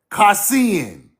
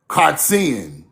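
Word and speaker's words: קצין: Kassin, Me reading the Hebrew book, that's not the real Hebrew word. That's what the English people made it to sound like this, spelled like this. This the real word right here.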